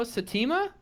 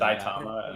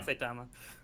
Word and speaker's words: Saitama: You don't know Satima? That's how you Well, pronounce his name, right? Yeah. That would actually be really Saitama. Yeah, Saitama.